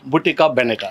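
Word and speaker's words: Bottega Veneta: তারপর হচ্ছে ভি ই এন ই টি এ ভুটিকা ভেনেটা ভুটিকা এটা আমার স্পেলিং করতে কষ্ট হইতেছিল কিভাবে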